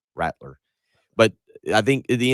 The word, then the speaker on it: Rattler: You're saying Rattler. He's going to rattle everybody. Like a baby's rattle. Rattler.